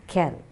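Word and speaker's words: quels: the end so q-u-e-l-l-e-s pronunciation of all the four words is kell okay goes just kel so can film regard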